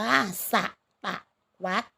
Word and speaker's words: ศตวรรษ: เป็น ศตวรรษ นะ คะ คำ นี้ อ่าน ว่า สะ ตะ วัส นะ คะ สิ่ง ทอ รี่ นะ